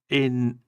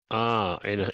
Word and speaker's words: Ineson: Hang on, Ralph Innocent. Am I saying that right, VJ? Ralph I'm probably saying the name wrong.